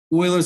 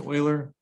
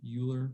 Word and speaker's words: Euler: skip the coolest thing you can talk about euler's identity um his name is pronounced euler although people say euler but it's euler so a couple things we